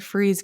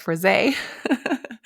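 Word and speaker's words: frize: So first, the light colored freeze coat, which I looked up how to say that. I think I originally said fris. It's spelled f r i ze. So apparently that's pronounced freeze.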